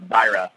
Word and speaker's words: Zyra: But for us it's Zyra.